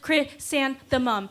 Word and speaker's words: chrysanthemum: in the naked air i learned it first in english chrysanthemum reciting the syllables like catching myself on a stumble crit sand the mum as in christen the baby mumbling in an airplane's